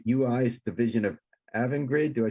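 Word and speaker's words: Avangrid: all the um bookkeeping right ui's division of evan grade do i say it right yeah evan grid was formed back in 2015 it was a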